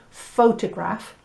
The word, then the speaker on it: photograph: Now what they mean by stress, if you think about the word photograph, the first syllable pho has the stress.